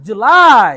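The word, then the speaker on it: July: April May June June জুলাই জুলাই এখানে জু আস আস্তে হবে লাই জোরে হবে জুলাই জুলাই এই জু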